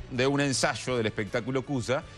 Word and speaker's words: Kooza: espectaculares, se está presentando con su espectáculo Cuya. Así se pronuncia.